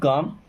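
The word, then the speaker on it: calm: Keep काम, देखिए keep का मतलब होता है रखना या रहना, काम, अब यहाँ पे एल साइलेंट है ना, कीप काम मीन्स शांत रहो, कीप काम मीन्स शांत रहो या दिमाग को ठंडा रखो।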